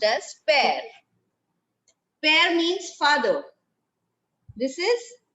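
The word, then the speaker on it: père: is given tell me very good it is pronounced as pair pair means father this is mar mar means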